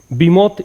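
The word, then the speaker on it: behemoth: बीमोथ इसका प्रोनाउंसिएशन होता है, बीमोथ का मतलब होता है शक्तिशाली।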